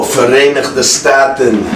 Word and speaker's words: Verenigde Staten: Because I don't know how to pronounce that. The other way to say United States when it ships over here. Oh, Verenigde Staten.